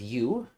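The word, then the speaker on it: Yew: Then we will go to the town of U to get the druid. U-Y-E-W, not Y-O-U.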